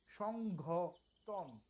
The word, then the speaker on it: সংঘটন: আর এখানে হলো সংঘটন, দুটার উচ্চারণ কিন্তু 2 রকম।